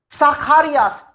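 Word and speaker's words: Zacharias: Sakharias, Z is half ta and se, like what's. So sa and then kha, why kha, ch, and before ch, a is there. So ch becomes kha here. So sakharias.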